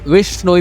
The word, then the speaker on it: बिश्नोई: तो लॉरेंस बिश्नोई के नाम में जो बिश्नोई आता है ना, उसी के चलते ये सारा मामला शुरू हुआ था। जहाँ बिश्नोई, जिसे विश्नोई भी प्रोनाउंस किया जाता है, वो एक हिंदू वैष्णव